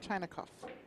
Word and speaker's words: Chinakhov: make it happen captain and his name is pronounced Ruslan Ruslan China coughs Lake Taylor under the whoops looks like Skyler